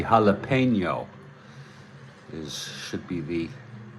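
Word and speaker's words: jalapeño: Jalapeno Ranch, and I see you added the tilde there. It should be jalapeno.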